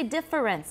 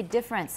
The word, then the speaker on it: difference: Right, and I don't say difference, I say difference. How many syllables? Two.